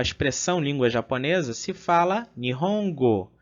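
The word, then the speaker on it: 日本語: Então, vimos que a palavra, né, língua japonesa, né, a expressão língua japonesa, se fala Nihongo.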